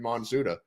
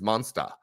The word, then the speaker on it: Monsuta: He was like, it's Monster. Yeah, you know, like if you say the fucking actually in the phonetics spelling in Japanese, I was like, yeah, that's why I did an English phonetic spelling or pronunciation of it.